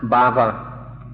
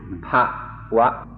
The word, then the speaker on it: bhava: This this word that I pronounced bhava is spelled b h a v a and my pronunciation has been corrected to pwa.